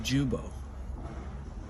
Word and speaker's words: Guibo: So our issue here is that it actually does hit the Guibo. I've been told it's pronounced Jubo.